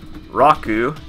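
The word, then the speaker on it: ロック: a double consonant so double consonants are you sort of have like a small pause in between or right before the double consonant or you could just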